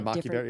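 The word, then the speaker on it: maqui berry: And then we added in maquia berry to get maquia berry.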